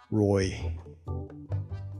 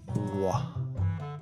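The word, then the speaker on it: roi: 로이. Return on investment 아니고 French. 로아.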